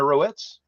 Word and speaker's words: Roets: so first up is rowitz ropes there we go I knew it was rhymes with notes no it's a very